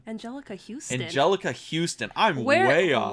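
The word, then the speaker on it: Anjelica Huston: And, it stars Raul Julia, Angelique Hudson. How the fuck do you pronounce her first name? Angelica Houston.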